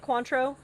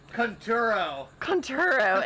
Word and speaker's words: Conturo: Is that how you say it? Quantro? No, that's liquor, baby. Oh. Conturo, excuse me.